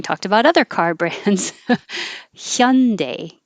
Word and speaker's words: Hyundai: car brands hyundai it's so you're starting with your tongue in the y position and then you make air flow for the h it's not i know it's not the perfect korean pronunciation but that's as close as americans get with that pronunciation if you don't start your tongue in the y position it will sound like more like honda which is the ah